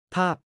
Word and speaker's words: ภาพ: ภาพ 팝처럼 발음은 상태나 조건을 의미하는 전미사입니다.